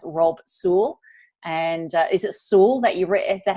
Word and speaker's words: Sewell: And is it Sewell that is that how you pronounce? Yeah, Sewell, yes.